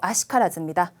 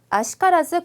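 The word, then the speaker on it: 悪しからず: 자, 아쿠도 아니고 와루도 아니고요. 아로 읽어요. 뒤에 시가 있을 경우에는 어떤 말이든 저 와루이 한자 뒤에 시가 있으면 무조건 아로 읽어주세요.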